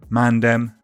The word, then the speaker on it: mandem: Their spellings with D reflect their pronunciations, mandem and galdem.